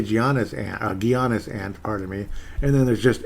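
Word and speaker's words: Giannis: anono mate you got to you've got to pronounce his first name properly before attempting his last name gianis gianis gianis gianis I did it right didn't I gianis ant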